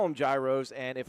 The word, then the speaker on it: gyros: Gyros? Okay. I got the wrong one up for you, by the way. I'll get that right eventually. So gyros. I'm going to call them gyros, and if it's wrong, I'm going to blame